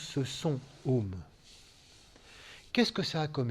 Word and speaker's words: Om: Ce son Om qui est un mantra qui peut être prononcé Aum ou Om, et là il faut le prononcer Om.